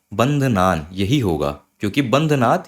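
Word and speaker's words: बन्धनान्: का ध्यान रखिएगा और बंध नान मृत्योर मुक्षीय तो कई लोग यहां पे बोलते हैं बंध नाथ तो ये बंध नाथ ये नहीं होगा बंध नान यही होगा क्योंकि बंध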